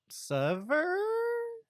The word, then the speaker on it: Sivir: Or as some people like to pronounce it, Sever? I don't know. I think that's how Riot themselves pronounces her name, but I say SIVIR because it's easier to say for me instead of Sever.